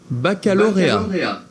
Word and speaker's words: baccalauréat: Here, I'll play the pronunciation. Baccalauréat.